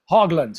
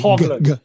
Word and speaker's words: Haugland: Hogland. Yeah. Hog Hogland with a G. Hogland.